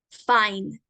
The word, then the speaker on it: fine: bien F y n y se pronuncia F a i n fine Pueden repetir después de